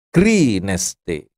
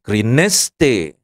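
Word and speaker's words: κρίνεσθε: itu perhatikan tanda-tanda bacanya kalau ada garis miring arah ke kanan itu harus ditekan suku katanya greeneste gitu jangan greeneste nah itu tadi saya ngomong gitu salah itu jadi harus yang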